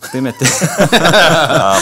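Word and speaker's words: thematic: 시매틱이 아니라 시매틱. 뜨메틱. 번데기 발음입니다.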